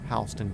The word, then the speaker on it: Houston: We have a county here in Georgia that's spelled the exact same, but they call it Hston County. It's Houston, Texas. Honelled exactly the same.